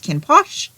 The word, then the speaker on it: Kinn: So the way that this particular book title looks, it doesn't look like it's pronounced Kinn, but the way the audiobook narrator pronounces it, that's how he pronounces it.